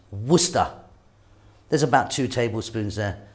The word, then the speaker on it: Worcester: then here i've got some worcester sauce it's pronounced worcester there's about two tablespoons there some people don't